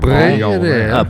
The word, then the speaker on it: Bre'llionaire: You have to roll the L. Don't Yeah, pronounce it. en Bre'llionaire. français. Bre'llionaire.